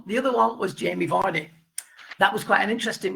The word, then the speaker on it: Vardy: Jamie Vardy, not Vardy, Vardy.